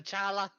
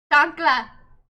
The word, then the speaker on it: chancla: The chala, the slipper. Chancla. Chuck. It's called a chancla. I know I keep pronouncing it wrong.